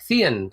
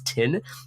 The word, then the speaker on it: Thien: my name, teacher included, she would call out and would be like Thien, Thien, whatever, and I would just keep correcting her in the Vietnamese pronunciation, and she couldn't get the accent down, and that's when I realized this is literally why my name is Tin.